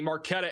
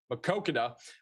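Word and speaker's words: Maquoketa: And then down here near the Marquetta area, I mispronounced it again, Makokada, going towards Bellevue, Iowa.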